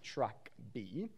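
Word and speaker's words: TrkB: it's not my fault the pronunciation is track b no need for mr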